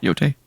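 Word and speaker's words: Yōtei: There's that shot of Atsu, the new protagonist, standing in front of Mount Yotai. Yeah. Yotai. I said it right the first time? Yeah. Yotai?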